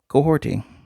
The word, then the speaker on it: Kahhori: Kahhori, although the name is spelled like Kahhori, it's Mohawk.